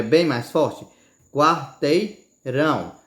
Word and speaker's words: quarteirão: Quarteirão, mesmo que você não bote força, certo? Mas ela é a sílaba mais forte, você pode notar. Fale sílaba por sílaba, vamos lá. Quarteirão. Você vê que ela é a sílaba mais forte, não é a que tem mais tom, é a que você entona mais, que fala com mais força, certo?